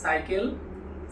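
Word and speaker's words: cycle: মাধ্যমে তা জেনে নিব যখন সি এর পরে ই আই এবং ওয়াই থাকবে তখন সি এর উচ্চারণ হবে দন্তস এর মত। যেমন সিটি সেন্ট সাইকেল সিনেমা।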